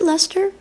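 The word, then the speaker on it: Leicester: button box and then it's Lester you know pronounce it Lester yes but it's like l i CS so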